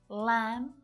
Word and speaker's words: lamb: Notice that all of these silent B's have an M before it. Lamb, crumb, numb, plumber, thumb. So this is a good clue.